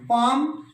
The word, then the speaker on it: palm: अब आ जाइए silent L, Baum, गरम वो लगाते हैं तो ले साउंड नहीं बोले, BALM, पाम, हथेली, PALM, टोक। और एक चीज और ध्यान रखा करो, यहां देखो प्रोनाउंसिएशन भी हो रही है, TA या कोई